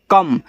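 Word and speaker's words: come: तो सी के बाद ओ है तो सी से आपका का और एम से आपका मा जब आप बोलते हो कम तो का के बाद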